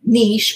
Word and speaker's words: niche: being the you know niche or niche however you want to pronounce it for this type of